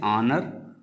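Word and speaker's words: honour: इसी तरह से ऑनर ऑनर की भी शुरुआत एच से हुई है। लेकिन इसका उच्चारण आ से है तो इसलिए ऑनर के पहले भी आर्टिकल एन का प्रयोग होगा।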